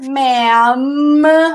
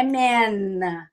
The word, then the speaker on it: ma'am: Sir, ma'am. Ó a boca, não é man.